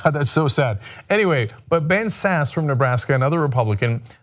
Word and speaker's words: Ben Sasse: my god oh that's so sad anyway but Ben Sasse from Nebraska and other Republican has opposed the